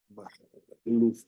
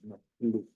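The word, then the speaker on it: Majluf: Mi apellido que viene del árabe se pronuncia Mahluf, Mahluf, es como por esta parte.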